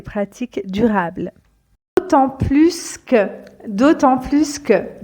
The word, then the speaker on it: d'autant plus que: durables autant plus que d'autant plus que prononcez bien le S ici d'autant plus que donc